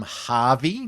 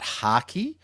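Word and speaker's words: Harkey: Now, I've mispronounced his name in this intro. So, uh I've called him Harvey, not Haki.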